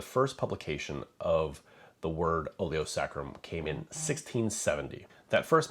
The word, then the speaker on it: oleo saccharum: that is oio sacrum I've also heard some really weird pronunciations of the word like sakaram or sakaram it's oio sacrum oo sacrum the direct translation from